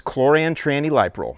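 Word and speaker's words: chlorantraniliprole: liquid concentrate version and the way that I pronounce it is choran Tran liol so the active ingredient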